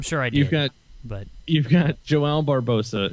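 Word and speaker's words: João Barbosa: You've got Joao Barbosa is actually how you pronounce his name.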